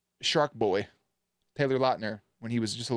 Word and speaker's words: Lautner: was Sorry, I think it's pronounced Lautner. Of margarita.